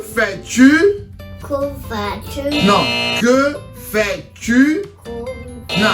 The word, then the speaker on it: que: So, que fais-tu? Que fais-tu? No, que fais-tu? No, not cool. Que fais-tu? Que fais-tu? I'm hearing Q. It's not Q either. It's que. It's spelled Q-U-E. So, que.